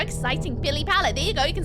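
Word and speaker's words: pilipala: P-I-L-I-P-A-L-A.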